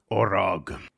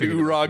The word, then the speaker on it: Orog: We decided Orog. Yeah, and you've said Urog ever since.